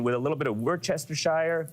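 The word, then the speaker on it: Worcestershire: a little bit of Worchester Shire wer Shire however you like to how do you say it I exactly how you just said I wer Shire wer Shire exactly Wester nailed it the brown sauce exactly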